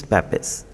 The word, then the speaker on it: Papez: Today we are going to discuss about Papez circuit. Okay, it can also be pronounced as Papez circuit.